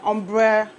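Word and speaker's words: ombré: And then so this is an ombre wig unit. I don't know if my pronunciation is right. Yes, ombre. That's the right way to pronounce it.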